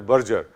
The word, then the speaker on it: Berger: It's not pronounced as Berger, it should be pronounced as Berger.